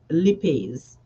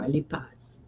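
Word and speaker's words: lipase: fat digesting enzyme um lipes or lipas depending on your pronunciation.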